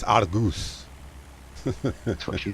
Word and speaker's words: Argos: Argos. Doesn't matter if I spelt it wrong because Google is my friend, which I didn't spell it wrong. Hotus, Hotas. And it's Argus.